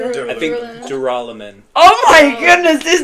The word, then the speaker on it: Duralumin: I think Duralumin. Oh my goodness, this name in my mind was I duralinium. don't even know. Yeah, I don't even know what it It's is. duraluminum.